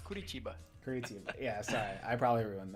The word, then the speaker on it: Curitiba: Why do I pronouncing it like an American? It's Curitiba.